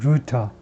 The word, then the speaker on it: Rutte: 제가 자신이 없어서 루터, 예, 화란 사람, 화란 발음으로 비슷하게 영어식으로는 루터라고 발음한다.